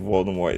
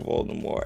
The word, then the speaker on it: Voldemort: I was so annoyed the pronunciation is Voldemort in the movies. Yeah. Yeah. Bula Mort is French for fly from death. The pronunciation is French.